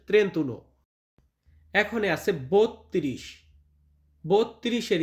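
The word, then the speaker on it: trentuno: এর পর শিখব 31 31 এটার ইতালিয়ান হবে ত্রে উনো ত্রেন্ত উনো মানে হচ্ছে 31 বা অনেকে ত্রেন্তা বলতে পারেন তবে এখানে ত্রেন্তা উচ্চারণটা আসে না উচ্চারণটা আসে ত্রেন্তন এখন আছে 32 32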